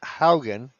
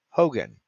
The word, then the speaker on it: Haugen: I pronounced it Haugen because that's how it's spelled last week or a couple of weeks back, and was politely corrected that it's pronounced Hogan.